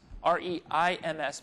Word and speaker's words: Reims: the city of Reims, R-E-I-M-S, but the French pronounce it with a real nasal, Reims.